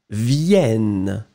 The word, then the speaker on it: viennent: see on your screen, you will have to double the N. And it means that it will impact the sound of your E that is just before. So, you will pronounce it vienne.